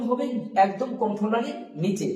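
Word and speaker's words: ح: এটা একদম কন্ট্রোলারই শেষ বা আপনি বুকের ভিতর থেকে বের করতে পারেন, যাতে এটা গভীর ভাবে হয়, একটা গম্ভীর আওয়াজ হবে হা।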